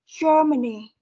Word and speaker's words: Germany: Chúng ta sẽ có trọng âm ra vào âm đầu tiên rồi âm chưa. Ok, cái âm này thì chị sẽ chu môi nhé.